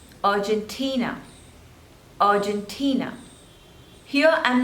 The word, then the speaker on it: Argentina: on the thirds label Argentina Argentina Argentina here I'm not saying Argentina I'm not pronouncing the letter R because in British English we generally don't pronounce R okay so whether you